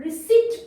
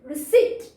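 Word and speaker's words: receipt: स ई प ट, प ट नहीं होता बेटा, इसमें पी हमारा साइलेंट होता है। तो रिसिट वर्ड है ये, रिसिट रिसिट।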